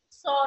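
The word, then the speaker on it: Pschorr: Now, second method for the synthesis of phenanthrene is SOR method, in which P is silent, that is SOR synthesis or SOR method.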